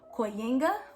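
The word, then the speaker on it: kujenga: is actually derived from a word in swahili that is pronounced koyenga which means to build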